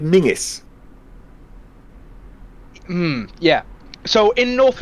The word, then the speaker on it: Menzies: usage which is why they end up spelling menzies but pronouncing it mingus hmm yeah so in